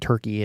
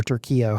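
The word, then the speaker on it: Türkiye: Poland and Israel and Turkey and or Turkio, however they want us to pronounce it these days.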